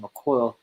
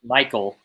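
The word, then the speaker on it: Mycole: from Ryan tanah Hill because when I said MCO uh Michael puit oh that's Michael wow what a weird way to spell that good job parents um okay that's Michael Pro it you were probably thinking like who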